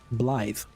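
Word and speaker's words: Blaidd: And Blythe is spelled B-L-A-I-D-D. Blythe.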